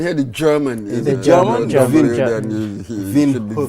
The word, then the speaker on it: Windhoek: Windhoek. Wind is pronounced like a V. Windhoek. Is it? You can hear the German. The German? Windhoek.